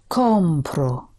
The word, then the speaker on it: compro: And I am buying it would be Compro. it. I'm buying it. Lo compro.